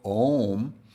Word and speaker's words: Om: creating a long a so om uh is properly pronounced from the back of one's jaw all the way back of one's mouth going from back to front so the dot over